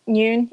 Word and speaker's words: Noon: so my name is noon if you guys have trouble pronouncing it just like 12 o'clock noon midday basically i currently